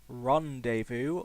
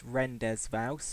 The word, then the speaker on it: Rendezvous: is the third mission Rondevu also known as rendes vowe if you can't pronounce the French language which I cannot that